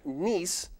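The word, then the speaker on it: gneiss: next category specifically spelling the variety of metamorphic rock pronounced nice is Sean G and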